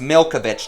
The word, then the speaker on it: Milkovich: Well, it's actually pronounced Milkovich, Thomas, but yeah, definitely.